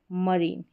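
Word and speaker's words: marine: रेज़म सबमरीन और यह है मरीन। इनको आप प्रोनाउंस करके पढ़ लें। यही है जहां पर आई का उच्चारण जो है ई करके हो रहा है।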